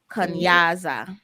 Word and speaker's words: kunyaza: have what we just uh mentioned kanyasa which is spelled k-u-n-y-a-z-a kanyasa or kunyaza while listening to another podcast talking